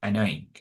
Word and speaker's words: annoying: No, suena, esa Y no suena ahí. Va a sonar como una I muy larga. So it's annoying, right? Annoying.